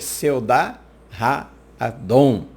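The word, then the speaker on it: סעודת האדון: Em hebraico, ceia do Senhor quer dizer Seudá Ha-Adon. É pronunciada dessa forma.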